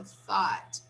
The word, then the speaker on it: thought: Here we have a little difference because we have the TH. So the TH we have to pronounce, right? So thought. And you have to learn how to say the TH. Thought. Here, no, only here. Thought. Thought. Okay? Just the beginning. The end, no. The end is the sound of T.